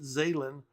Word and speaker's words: Zeylin: And that's how you pronounce it, Zeylin, from Rippaverse.